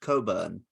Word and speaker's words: Cockburn: And people will try and be like, "Oh no, it's pronounced Coburn," but no, it's literally called It's literally called Cockburn because that's where you